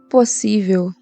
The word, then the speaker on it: possível: letra D por quê possível não é proparoxítona possível é paroxítona Vamos separar possível a a sílaba tônica tá aqui isso é uma paroxítona terminada em L E agora aqui como